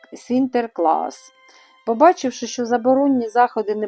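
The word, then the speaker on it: Sinterklaas: У Голландії ім'я святого Сент-Ніколас стали вимовляти як Сінтерклас.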